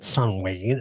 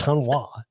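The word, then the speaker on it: Samhain: So no, it's not Sunween. It's Sunwa.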